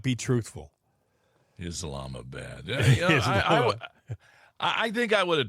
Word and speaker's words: Islamabad: The name, Islamabad, Islamabad. Yeah. I'm like going. They pronounce it Islamabad.